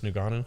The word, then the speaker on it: Ngannou: I thought he could have beat Francis Ngannou. Is that how you pronounce that as Francis well?